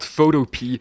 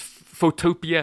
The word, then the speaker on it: Photopea: which, by the way, I thought was called Photopea. Because it's spelled exactly it's like spelled the word exactly photo and like- then the word Yes. PEA, I should say. But apparently, it's intended to be pronounced Photopia, Yeah.